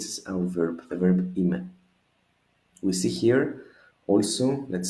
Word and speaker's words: είμαι: Practically, if we remember correctly our diphthongs from the other videos, it's E and E. So it's just 2 syllables. Είμαι, είμαι.